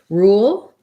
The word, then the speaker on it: rule: um and then your other word was rule so same idea there except we have a tense ooh sound and then same kind